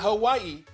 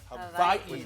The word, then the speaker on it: Hawaii: Not Hawaii, Hawaii. That's how it's pronounced. Yep, it's pronounced with a V.